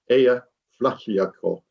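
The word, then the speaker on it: Eyjafjallajökull: icelandic speakers out there i believe that's pronounced heya flacco blew up causing the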